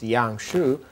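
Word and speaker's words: 阳虚: against the background of yangshu pronounced yang xu i would treat the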